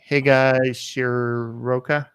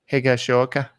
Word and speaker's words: Higashioka: Kyle Higashioka. Higashioka. No, that's not how you say it. Higashioka. Higashioka. It's not that hard. I keep on trying to put an R in it. There's no R in it, Eric.